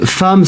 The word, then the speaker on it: femme: 네, 이번엔 디저트도 디저트 하나 oui, 하고 une parenthèse, femme c'est un E. Donc attention, la prononciation Oui, c'est A. Ah. C'est pas femme, c'est femme. 지금 우리 이사벨 선생님이 중요한